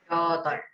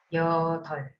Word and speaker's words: 여덟: 여덟, Ajá, otra vez. 여덟, Ajá. Es como yotol. ¿Ok? No se pronuncia exactamente como está escrito.